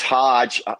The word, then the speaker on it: Hoge: It's Hodge, pronounced like Dodge, but no D in it.